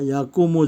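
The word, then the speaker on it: يقوم: Jadi yakumu ini fi'il, dia bacanya mu ya, nggak boleh ma, nggak boleh mi di sini.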